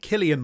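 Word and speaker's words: Cillian: to say his name Killian Murphy I'm going with orillian is it Killian oril I think it's kilan I think I think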